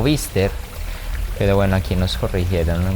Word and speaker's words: Biester: piso realmente equivocados porque no es biester sino bister Pero bueno aquí nos